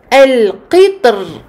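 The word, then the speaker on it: القطر: On voit ici dans ce paragraphe que l'imam Ibn al-Jazari a fait le choix de prononcer de manière emphatique le ra dans misr. Misr. Et a choisi de prononcer le ra ici de manière amincie dans le mot al-qitr.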